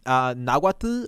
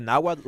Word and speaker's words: Nahuatl: The Spanish way, which is Nahuatl, where you pronounce the T, and the hard way, which is the Nahuatl way, which is you